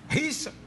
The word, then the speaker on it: Richard: Richard. Você tem que pronunciar o D. No caso do Richard aqui lá dentro. Richard.